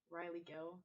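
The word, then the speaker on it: Rylee Gill: Personally, you can find like my LinkedIn at Riley Gill, but it's spelled weird, like RYLEEGILL.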